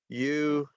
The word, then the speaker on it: university: So when we say university, so the 3rd syllable gets the stress. Okay, so it's university, university, university.